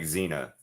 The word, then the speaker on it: Xena: See, it kind of reminds me of like Xena because Xena spelled with an Xena, but you pronounce it with like the Z.